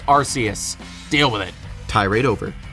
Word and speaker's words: Arceus: yes by the way i pronounce it arceus it just sounds better it looks like that's what it's supposed to say i don't care if you're from the uk and it sounds like arse saying archaeous is just so